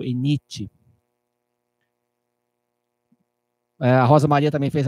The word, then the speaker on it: ENIT: T é mudo, ENIT.